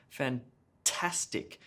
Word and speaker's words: fantastic: first syllable in robot fantastic fantastic emphasis on the middle syllable their task gets the emphasis helicopter helicopter emphasis on